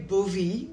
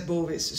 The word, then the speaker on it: Bovis: and by the way it started with andre bovee you probably pronounce it like that it was a frenchman but i noticed that everybody says bovis so you can say